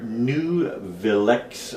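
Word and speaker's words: Nuvilex: here it stands for new villex i guess is the correct way n u v i l e x i guess that's correct way to pronounce it and usually i recommend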